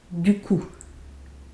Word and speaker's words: du coup: And the P is not silent, is not pronounced, sorry, is silent. Du coup.